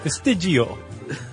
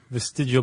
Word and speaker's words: vestigial: You have to say it like you're eating a meatball. Vestigial.